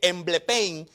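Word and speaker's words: ἐμβλέπω: que quiere decir pedro esa palabra mirar es una palabra griega que podrían podríamos bueno se dice emblay payne que significa mirar profundamente lo que usted no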